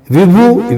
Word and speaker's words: विभु: विभु, विभु का अर्थ होता है परमेश्वर, प्रभु। हम प्रभु बोल देते हैं, एक्चुअली में उसका शुद्ध संस्कृत में होता है विभु।